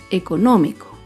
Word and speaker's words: económico: Por último, otro ejemplo de una palabra esdrújula es la palabra económico. Económico se acentúa en la antepenúltima sílaba.